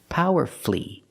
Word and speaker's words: powerfully: words powerfully and mercifully again you have two syllables before f l l y and the stress is on the first syllable so the U is silent power flee merci flee and then we have